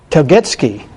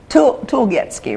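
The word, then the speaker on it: Tulgetske: Telgetsky. Tulgetsky, right? Tulgetsky. T-E-L-G-E-T-S-K-E. T-U-L-G-E-T-S-K-E. There's an E there. That's why I messed up.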